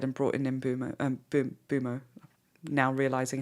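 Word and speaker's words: Mbeumo: out Moma instead and brought in mumo um bumo now realizing how to say his name um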